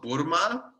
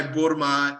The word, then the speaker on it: burma: First of all, I think the single food that I miss the most is something called burma, like spelled like the country, B-U-R-M-A. And it's like, imagine baklava, but round, like almost like a hot dog.